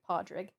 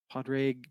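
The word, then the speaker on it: Pádraig: His name is Padre. Can you spell that?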